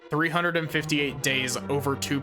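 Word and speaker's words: 358/2 Days: Especially, I really love the fact that, the DS game that focuses on Roxas is not 358 days divided by 2. It is specifically pronounced Kingdom Hearts 358 days over 2.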